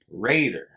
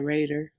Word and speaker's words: Rader: by the name of dennis raider that's how you pronounce it right right yeah raider raider yeah without the eye yeah dennis lee raider